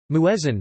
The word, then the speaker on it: muezzin: Muezzin, the word is pronounced this way in Turkish, Urdu, etc.